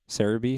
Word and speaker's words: Celebi: Cerebi? Celebi? Cerebi or Celebi? Well, Cerebi, if you look at, because the website is Cerebi, right? Because I guess that's the Japanese way of pronouncing it.